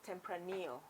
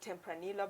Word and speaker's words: tempranillo: about the red white the grape is tempranio tempranial even though it is spelled as tempranillo yeah a lot of Kenyans will call it tempranilla but actually temprano it's a predominant grip